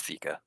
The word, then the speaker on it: Theca: I just I looked up the pronunciation. It's Theca.